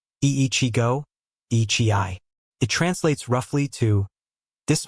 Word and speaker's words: Ichigo Ichie: Ichigo Ichie pronounced ee-chee-go ee-chee-eye.